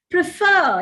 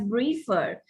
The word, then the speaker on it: prefer: your speech being unintelligible prefer you have to accept the second syllable and not the first if you accent the first syllable a native year year would hear it as briefer because you once you